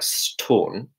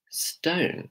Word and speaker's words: stone: Now, if it sounds like storn, I want to hear it as stone. If you want to copy Hermione's accent, it's stone. St-O-N.